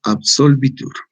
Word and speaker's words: absolvitur: Bueno, actore non probante reus absolvitur o absolvitur, ¿no? Vitur. O sea, la B siempre pronunciándola como la U, ¿no? La B dentilabial, ¿no? Como U.